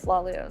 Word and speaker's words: Lahlouh: that has a bunch of different items that rhyme with slalus so for example canoe kazoo tutu bamboo so